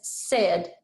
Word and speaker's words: said: we pronounce it as said it almost sounds like s-e-d did you hear what i said sounds like scd doesn't it all right so i'm going to write that on my board said good now i'm going